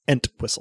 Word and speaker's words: Entwistle: I gotta pronounce the T. Entwistle.